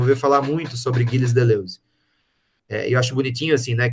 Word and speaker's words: Deleuze: Vocês vão ver falar muito sobre Gilles Deleuze. Eu acho bonitinho, assim, né, que você vai fechando a boquinha para falar Deleuze, né, vai ficando...